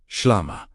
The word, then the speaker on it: shlama: Now speak the word shlama. Say it slowly. Shlama. Feel the first syllable open the upper chest.